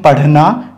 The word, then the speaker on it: पढ़ना: शुद्ध उच्चारण हो सके अगर यह बिंदी नहीं बनती तो हम पढ़ना नहीं पढ़ पाते इसको पढ़ना बोलते पढ़ना तो पढ़ना अलग उच्चारण है पढ़ना अलग उच्चारण है तो सही उच्चारण पढ़ना है इसी तरह कई सारे